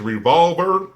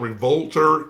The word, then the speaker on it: Revolver: It is Revolver, not Revolter. I don't know why I was saying Revolver Revolter versus Revolver, but it's Revolver. That's the actual correct pronunciation of it.